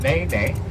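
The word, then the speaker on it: nene: his word the N NE very good the ne ne Goose that in e ne pronounced ne ne and the ne goose live on the slopes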